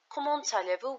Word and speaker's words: allez-vous: When we say allez starts with a vowel, then we link these two. Liaison is a pronunciation of a linking consonant, which makes the pronunciation a bit better. Comment allez-vous?